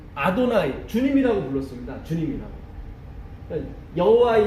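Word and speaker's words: אֲדֹנָי: 그래서 아도나이, 요거는 이 발음이에요. 이 발음.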